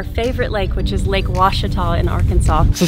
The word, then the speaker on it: Ouachita: close to our favorite lake which is lake washita in arkansas so say the name of the lake again lake washita o-u-a-c-h-i-t-a so i've been pronouncing it wrong all